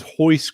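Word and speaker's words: Royce: to do it now the gentleman's name was hoist Gracie spelled like Rey he is I was going to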